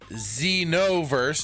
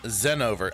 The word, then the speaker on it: Xenoverse: Xenoverse, not Zenover.